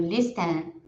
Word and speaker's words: listen: Eu acho que eu escrevi ali no listen, não se pronuncia daquela forma como está escrita. Seria listen, ouvir.